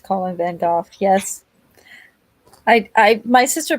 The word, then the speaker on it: van Gogh: like like mandanimal says the brits call him van golf yeah i guess technically